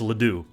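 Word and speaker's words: Ledoux: people have trouble pronouncing my last name's not LEDs it's Leo it's Leo has an X at the end cuz it's French and people say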